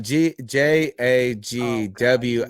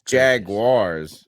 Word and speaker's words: Jaguars: It's not Jagwires. That's how it's pronounced. Goodness. It's gracious. Jaguars.